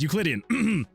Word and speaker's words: Euclidean: That's how you pronounce it. It is Euclidean.